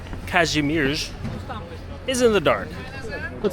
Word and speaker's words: Kazimierz: And now my time is short, so a lot of the time I'm spending here in Kazimierz, or as I've learned in Polish, it's pronounced Kazimierz, is in the dark.